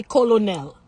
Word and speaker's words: colonel: Accent on the wrong syllable. So it's catastrophe, right? Catastrophe. Okay. Same word. How do you say colonel?